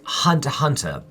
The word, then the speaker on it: Hunter x Hunter: The X is silent. All right. And Hunter Hunter.